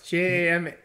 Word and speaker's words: Jamahal: No, it's Jamahal. You pronouncing things like Surrey does right now?